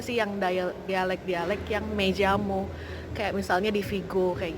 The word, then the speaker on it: llamo: Dibacanya tuh double L itu kayak Y. Tapi kalau di Amerika Latin dibacanya tuh kayak J. Jadi